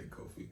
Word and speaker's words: Kofi: I say Kofi.